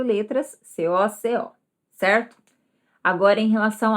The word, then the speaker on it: cocô: Então, o que antes era uma fruta, que era o coco, vai ser agora coco. Coco. A força da sílaba tônica está na segunda.